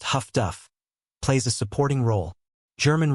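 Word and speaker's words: huff-duff: Highfrequency direction finding HFDF, often pronounced Huffduff, plays a supporting role.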